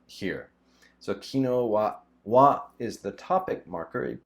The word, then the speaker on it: 昨日: reason for that is it could also be pronounced sakujitsu sakuyitsu is more formal you might see it in newspapers or in formal announcements and stuff kino is just more common